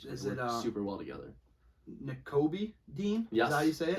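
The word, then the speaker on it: Nakobe: N'Kobe Dean?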